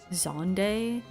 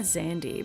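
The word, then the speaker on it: Xande: and I was like damn I was saying that wrong Zande. I always said Xandandy, but I I don't think that's They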